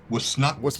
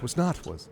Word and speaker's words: Was Not Was: Uh, no, it's it's it's it's pronounced was not was was not with the emphasis on the not was not was.